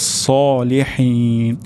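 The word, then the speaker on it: صالحين: তাহলে আমাদের এখানে সদ উচ্চারণ করতে হবে হিউস, হিউস, হিউস সলিহিন। শেষের দিকে হা উচ্চারণ হবে সলিহিন, হা হবে না, সলিহিন এটিও গলার মাঝখান থেকে উচ্চারণ হবে।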